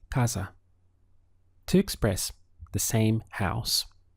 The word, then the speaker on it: casa: Now, depending on which Spanish-speaking country you're in, you will also hear this pronounced as casa with more of an S sound. However, where I am, it's casa.